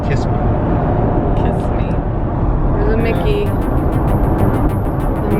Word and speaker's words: Kissimmee: It's pronounced Kissimmee.